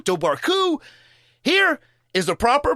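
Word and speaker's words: Dobhar-chú: roderick o'flaherty who lived in the 17th century dorku i like that one i'm sticking with that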